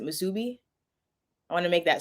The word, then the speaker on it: musubi: make misubi i think it's that's how you pronounce it musubi i want to make